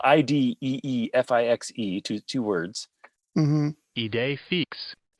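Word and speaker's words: idée fixe: It's spelled IDEEFIXE.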